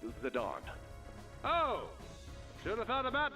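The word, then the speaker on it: Zidane: Zane bringing the pain. Baba, it's pronounced Zadon.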